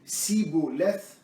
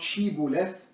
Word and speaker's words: Shibboleth: And if the person is saying Sibboleth, not Shibboleth, and instead of SH, they say S only.